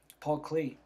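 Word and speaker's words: Paul Klee: he's very important artist uh basat and um Paul clay Paul Clay is that's how it's pronounced um by taking stuff out by putting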